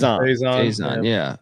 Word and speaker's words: Faison: Faison.